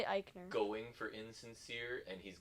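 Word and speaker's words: Aichner: insincere and beth phoenix would mispronounce fabian aikner again it's really eichner going for insincere and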